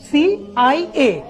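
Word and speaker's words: CIA: United Nations, BBC, সিএনএন, সিআইএ, আইএমএফ। সবাই খেয়াল করি, আমি এই অর্গানাইজেশনের নামগুলো যখন বলছি তখন কিন্তু আমি ইউএন আন বলছি না, বলছি ইউএন। সিআইএ কে কি আমি সিয়া বলছি না, বলছি কি সিআইএ।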